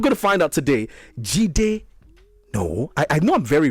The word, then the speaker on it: Jideonwo: So it's Jideonwo. Jideonwo.